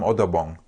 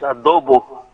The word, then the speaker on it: adobo: If I come to the Philippines, I want some odobong. Okay. You guys got me hungry now. I haven't had breakfast. It's adobo.